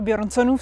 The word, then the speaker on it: Bjørnson: Právě jsme v brněnském parku, který se nazývá Bjørnsonův sad. Doufám, že to vyslovuju správně. Ano, výborně, protože tam je O přeškrtnuté a to se vyslovuje jako E. Takže Bjørnson, výborně.